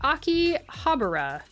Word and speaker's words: Akihabara: That's I I say it like Akihabara. Akihabara. Akiha bar, but some people say it Akihabara.